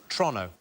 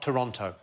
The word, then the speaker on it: Toronto: So it's Toronto, not Toronto. Oh, is it? Toronto. Toronto. Toronto. Like, as quick as you possibly can, like it's a crime to say it. Toronto.